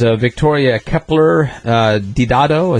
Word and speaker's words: Victoria Kepler Didado: And then there is Victoria Kepler Didado. Is that how you pronounce that? Yes, and Karen and I went to their weekend retreat.